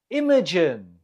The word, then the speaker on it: Imogen: Imogen. The stress is on the first syllable. Imogen.